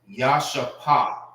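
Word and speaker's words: ישפה: How you say Jasper in the Hebrew It's Yashapa. Yashapa.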